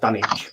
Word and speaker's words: Dunwich: All right, but I think it's supposed to be pronounced Dunwich. But anyway, Dunwich. Dunwich. You don't pronounce the W then?